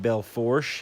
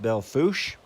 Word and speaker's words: Belle Fourche: It goes into Belle Fourche, even though it looks like Belle Fourche, it's pronounced Belle Fourche.